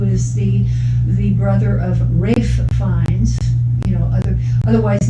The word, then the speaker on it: Ralph: joseph fines who is the the brother of rafe finds you know other otherwise known pronunciation wise as ralph um but that's you